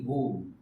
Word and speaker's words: whole: But WHOLE, W is silent.